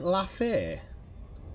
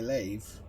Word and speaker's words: Lave: What, you pronounce it Lafay? Lafay Station? So your child coming back to get you. It's definitely Lave. Lave Radio, isn't it? In Spanish it would be Lave.